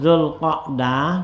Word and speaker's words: Dzulqa'dah: Nah ya, kata baca ini wafat hulqab, patah qobnya tuh Dzulqa'dah, baca yang qa'dah tuh ya, qad sahhahu, sungguhnya itu dia sah ya gitu. Artinya tuh kata-kata si itu bacanya qobnya patah itu lebih sahih gitu.